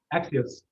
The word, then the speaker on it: Axios: Is it like Axios? Is that how you say it? Axios, yeah, Yeah.